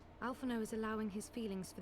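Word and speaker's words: Alphinaud: Alphino ends with D and the D isn't pronounced, and Onawa ends with T and that's not pronounced.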